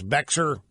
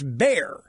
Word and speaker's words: Bexar: this County in Texas Bexar and it's bear the it's Spanish the X is silent in Spanish I should have known